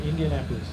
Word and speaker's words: Indianapolis: Yeah, Indianapolis. Yeah. Very complicated. You just say India and then Napolis. It's almost like India, no police.